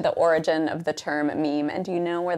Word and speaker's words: meme: My meme comes from a suitable Greek root, but I want a monosyllable that sounds a bit like Gene. I hope my classicist friends will forgive me if I abbreviate my meme to meme.